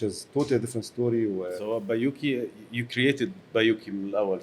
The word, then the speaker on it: Bayouki: متسمي على اسمه اساسا بايوكي، بس هو بيتكتب CH. بس احنا لما عملنا ريسيرش برضو فوكس جروب الناس كلها كانت بتنطقها غلط، بايوتشي بايوتشي، فروحنا الكويت بقى واحنا